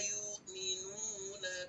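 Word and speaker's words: يؤمنون: Membaca hamzah sukun itu jangan sampai terkesan ada ya suara hidung seperti itu ya. Harusnya alladzina yuk kita makan yuk. Alladzina yu'minuna, coba yuk. Iya, yuk ya. Coba Pak Sawi, yuk. Nah, begitu ya, bukan yuk ya.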